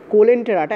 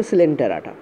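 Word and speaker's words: Coelenterata: তবে একটা জিনিস বলি, কোলেন্টেরাটা অ্যাকচুয়ালি এটা হওয়া উচিত ছিল সিলেন্টেরাটা, ঠিক আছে, সিলেন্টেরাটা, ওকে, এইভাবে উচ্চারণ করা হয়।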